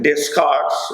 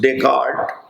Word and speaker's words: Descartes: e s c a r t s written discards but pronounced descartes he was born in france on 31st march 1596 and he died on 11 february 16 15.